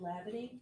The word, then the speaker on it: Hlabaty: Please keep your voice up, and if you wish, please state your name and spell it. Certainly. My name is Dr. Lavity.